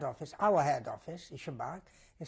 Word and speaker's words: Szymbark: When I come to that soil, we was stationed in a little township which was called Szymbark. Can you spell that?